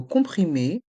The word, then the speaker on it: comprimé: S sont mués médicament dans le mot comprimer les lettres O et M font le son on comprimer des comprimer et dans le mot